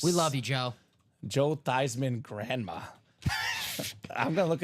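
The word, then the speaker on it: Theismann: the pronun pronunciation of my last name from theeman of thyman and she said it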